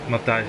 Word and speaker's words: Matthijs: So is it pronounced Matthijs? Yeah, Matthijs. Yeah, Matthijs. Matthijs. Oh, okay. So it's either way.